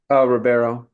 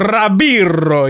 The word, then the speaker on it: Ribeiro: If you want to be, if you want to add some Latin twist to it, you can say. Rabiro, yeah. In Brazilian Portuguese, the R's make a h, H sound, so it's Ribeiro.